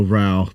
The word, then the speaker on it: Rauch: Yeah, it's German, so Rauch, but it's spelled R-A-U-C-H, but in German it means smoke.